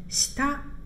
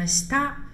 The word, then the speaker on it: 下: 第二个单词下读作 shita 啊 shita。